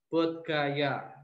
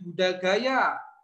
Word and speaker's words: Bodh Gaya: BODH Bodh Gaya. Ini. Atau kalau enaknya membacanya di Buddha Gaya namanya.